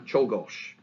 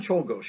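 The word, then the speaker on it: Czolgosz: so instead of uh c z makes the chus sound and the sc makes a sound so when you're spelling it when you go the other way just realize just go chol gauche write that out change your h's disease and you got it right okay or you got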